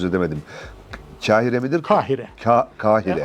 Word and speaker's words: Kahire: da doğru telaffuz edemedim Kahire midir Kahire Kahire Aslında Kaf iledir kahir ama evet söylemesi biraz